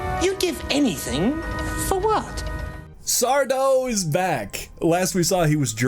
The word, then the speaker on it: Sardo: No, mister. Accent on the dough.